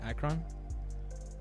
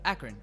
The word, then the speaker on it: Akron: yeah it is that's how you say it akron akron oh my bad yeah he both he built